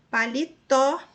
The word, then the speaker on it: paletó: B, paletó. Veja só, a última sílaba é a tônica mais forte e termina em O, recebeu acento.